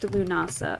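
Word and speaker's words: Lughnasadh: and lunasa okay so I was right that that one's pronounced lunasa okay it was just so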